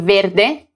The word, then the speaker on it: verde: that's because the adjective verde green is invariable and always ends with the letter e pronounced a regardless of whether it refers to a masculine or a feminine noun and if i wanted